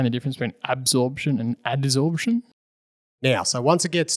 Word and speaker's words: adsorption: I think I said absorption before, so it's actually adsorption.